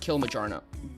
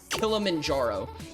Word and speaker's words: Kilimanjaro: I'm going to assume hike mount Kiljarno. Kilamanjaro.